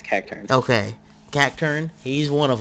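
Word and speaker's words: Cacturne: God, how the freak do you pronounce it now? Yeah, it's Cacturn.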